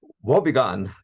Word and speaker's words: Wobegon: Wobegon, how do you pronounce it? Wobegon.